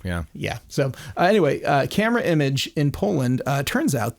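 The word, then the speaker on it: Camerimage: image Festival themselves and you'll hear people say camera homage it's the the pretentious way to say it and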